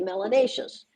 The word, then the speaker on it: melanatious: If you have more melanin, if you're a little darker, then you must be melanatious, which rhymes with gracious and spacious and efficacious.